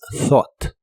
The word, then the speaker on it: thought: thought y significa pensado la th de esta palabra se pronuncia soplando con la punta de tu lengua justo debajo de tus dientes de arriba thought y la ugh no se pronuncian Así que es thought thought el verbo Escuchar u